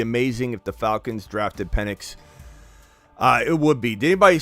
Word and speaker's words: Penix: I don't know if you guys saw Howard, Desmond Howard, when he was trying to pronounce Penix. He kept calling him. I think he did say penis.